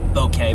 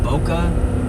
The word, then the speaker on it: bokeh: Bokeh, by the way, I think you spell that B-O-K-E-H. Boca? No, like Boca Raton. No, I believe it's pronounced bokeh.